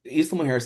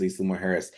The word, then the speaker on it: Isla Mujeres: But yes, Yeah, so Isla Mujeres is a really good one because that one, it's Isla Mujeres is an island just off the coast of Cancun.